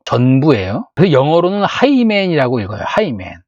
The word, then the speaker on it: Hymen: 그래서 영어로는 하이맨이라고 읽어요. 하이맨.